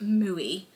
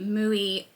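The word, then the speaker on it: Mooi: and i' cast on I think it's pronounced muoy m o o i the mooy uh scarf or wrap by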